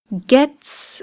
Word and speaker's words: gets: Gets is the correct pronunciation. It ends with the sound S sound, with the letter T. That T sound is a voiceless sound, T. So it becomes gets.